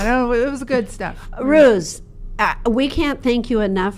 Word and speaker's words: Roos: Well, first of all, you can pronounce my name as Roos, because Roos is the Dutch for rose in English, like a flower.